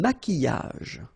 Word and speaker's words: maquillage: Un maquillage. Okay, so here, same rule, Q-U, but then U is not pronounced, so qui, and then y.